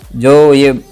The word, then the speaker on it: ज्ञ: फिर है ज्ञ। तो इसमें एक क्या है कि हम गुजरात से हैं, तो गुजरात में इसका उच्चारण हम न करते हैं, किंतु व्याकरण की दृष्टि से भी देखा जाए तो इसका उच्चारण होता है ज्य, क्योंकि इसमें दो वर्ण जुड़ते हैं, एक है ज और दूसरा है य।